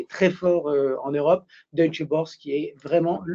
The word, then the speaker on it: Deutsche Börse: Deutsche Börse qui est vraiment… Comment on prononce Deutsche Börse en allemand? Bourse? Non, Deutsche Börse.